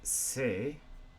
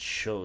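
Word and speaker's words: 姓: A surname is a sei If you're actually asking what someone's surname is, osei wa nan desu ka? But if used in other words, it's pronounced sho sometimes.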